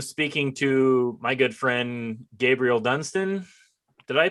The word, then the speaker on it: Gabriel Dunston: I am speaking to my good friend Gabriel Dunston. Did I pronounce that correctly?